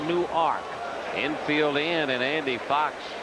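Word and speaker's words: Newark: ark any W arkade like nework New Jersey except they pronounce it new ark infield in and Andy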